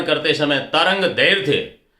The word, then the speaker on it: दैर्घ्य: के ये पे लगेगी, लेकिन उच्चारण उसका ध से पहले दैर्घ्य बोलना है। विज्ञान के बहुत से विद्यार्थियों को मैंने सुना वो दैर्घ्य बोलते हैं, ध के बाद में रे को ले, गलत हो गया। दैर्घ्य नहीं, दैर्घ्य बोलना है। और धीरे धीरे उसका रूप आ गया, धैर्य बोलना शुरू कर दिया, तरंग धैर्य, दोनों ही उच्चारण अशुद्ध है।